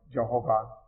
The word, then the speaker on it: Jehovah: It's the same name, different pronunciation. Yahweh or Jehovah.